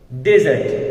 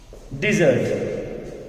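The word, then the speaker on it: dessert: Most of people pronounce this word डेजर्ट, but this is wrong. This word is नॉट डेजर्ट। हम इस word को correctly pronounce करेंगे from today. This is the word here, desert.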